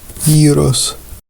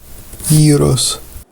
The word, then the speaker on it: Γύρος: The authentic, or at least an authentically Greek pronunciation of this food is, well, I don't want to get myself into trouble again. Let's defer to Wiktionary. Gyros. Gyros. So what's going on here?